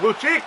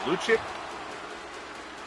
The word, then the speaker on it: Lucic: I mean, I always thought it was Lucic. But then I heard the game audio actually call him Lucic and I just assumed that I'm I was I assumed that I had been pronouncing it wrong.